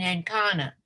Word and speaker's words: Ancona: For 2 decades, ex-conversos from the Iberian Peninsula had lived as openly practicing Jews in Ancona. Is that how you pronounce it?